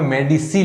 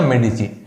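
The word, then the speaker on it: Medici: जब देखिए एक फ्लोरेंस के अंदर आपको एक परिवार का नाम याद रखना है, मेडिची। हालांकि किताबों में मेडिसी लिखा है लेकिन सही उच्चारण है इसका मेडिची।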